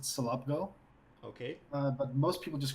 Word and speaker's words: Selobgo: mean anything it's particularly it's pronounced I would pronounce it Sulabh go okay but most people